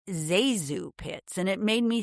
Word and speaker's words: ZaSu: It's Zah, as in Eliza, and Zoo, as in Susan.